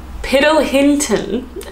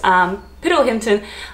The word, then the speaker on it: Piddlehinton: It is Piddlehinton. Am I pronouncing that wrong? It's a bit of a mouthful. It sounds like piddle, which is like when a dog relieves themselves. Piddlehinton.